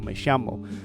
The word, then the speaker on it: me llamo: like pronunciation differences so the double el in Spanish is silent so in Spain they would say me llamo whereas in certain South American countries and dialects that much more likely say something like me llamo or my Shama and this is something